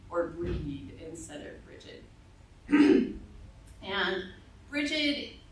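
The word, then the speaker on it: Bríd: Bridget of Kildair that the people who were living in Ireland were celebrating a goddess named Bridgette or sometimes in Irish the name is pronounced breed or breed instead of Bridg.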